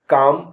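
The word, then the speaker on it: calm: एम पाम माने गदली सी ए एल एम काम काम माने शांति एच ए एल F half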